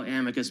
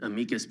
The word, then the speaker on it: amicus: So those are what we call amicus briefs. Some people pronounce it amikas briefs.